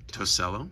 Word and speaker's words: Tosello: Tosello.